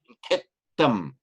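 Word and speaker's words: khettaṃ: Sorry, it should be a double T. Where's the double T? Should be a double T. Ketam.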